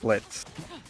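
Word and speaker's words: Blitzø: It's Blitz. The O is silent.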